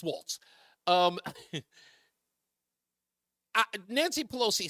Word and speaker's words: Walz: uh and I understand everybody's pronouncing walls it's Waltz um Nancy Pelosi said